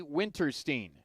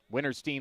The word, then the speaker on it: Winterstein: rockets it is winterstein i pronounce my last name stein he pronounces it steen winterstein wears 11